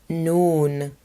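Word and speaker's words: نون: Letter noon. Noon. This is the English N sound because it looks like a nipple.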